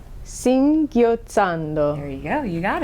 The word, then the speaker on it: singhiozzando: How do you pronounce that again? Yeah, it's a hard one. So it's Singhiozzando. Singhiozzando.